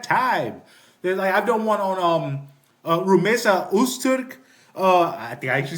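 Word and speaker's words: Rümeysa Öztürk: I've done one on Rumesa Usturk.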